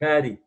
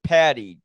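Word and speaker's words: Paddy: said writer Peter Chayefsky I believe you pronounce it Manny huh patty I'm sorry patty yeah PA ddy Chayefsky was eerily prescient in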